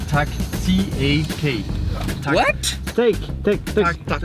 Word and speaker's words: tak: Yes, Danish, and you say tak, T-A-K. Tak. What? Take. Tak. Like take, you say Tak, just tak, tak. T-A-K.